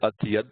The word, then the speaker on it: atyad: Notice that you have ati, meaning excessively. The I becomes a Y here. And when we pronounce it, we'll say atiyad, ati, it's atyad buddharupa. So it's as if we're saying at yad, but we kind of let it flow a little bit.